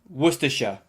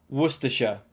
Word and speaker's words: Worcestershire: waiting for here goes worcestershire worcestershire yeah the spelling is quite confusing it makes it seem much longer than it actually is but don't worry if